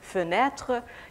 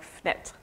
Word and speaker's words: fenêtre: So for instance, take the French word fenêtre. It's often pronounced like fenêtre.